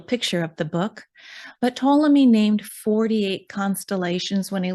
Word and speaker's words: Ptolemy: who is this guy ptolemy p-t-o-l-e-m-y and i'm assuming it's a silent p right so ptolemy second century way back